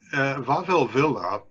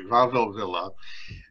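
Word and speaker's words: Wawel Villa: museum with me sure vavel villa the w is pronounced like a v basically varvel villa was the brainchild of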